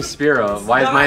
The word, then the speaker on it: Spyro: Dragon I can't tell you why his name Spiro why is my name pronounced John that's how people pronounce it it's not it's not it's not speo I got like a philosophical AR why is